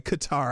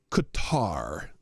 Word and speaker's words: Qatar: It's Qatar for those who want me to pronounce it correctly. Anyway, yeah. Uh from the motorcade, a a a honor guard of camel jockeyies. So there you go. Beautiful from Qatar. I've been saying cutter forever just because I made that joke one time.